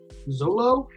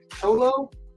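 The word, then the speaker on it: Xolo: don't even know how to say this person Zolo solo it's x-o-l-o it's a guy from Cobra Kai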